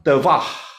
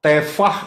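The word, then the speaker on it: תבה: Nah, yang berikutnya adalah Tevah.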